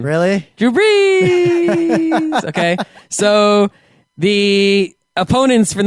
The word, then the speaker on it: Drew Brees: Yes, because of their quarterback, Drew Brees. And that is how you say his name. Really? Drew Brees.